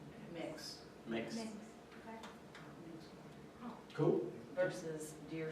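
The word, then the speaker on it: Mx: Do you know how it's pronounced? mix.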